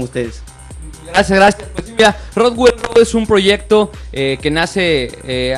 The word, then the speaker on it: Rockwell Road: Estamos con nuestros amigos de Rockwell Road, que lo he pronunciado bien, Rockwell Road.